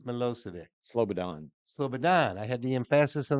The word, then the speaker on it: Slobodan: more okay former Serb leader SLO sodin mosic slobodin mosic sladon Slobodan I had the emphasis on the wrong Sal